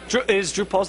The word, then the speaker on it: Drupal: Now, you say Drupal, I say Drupal. Drupal's the correct pronunciation. I can't fix it. He's correct. I'm incorrect. Drupal.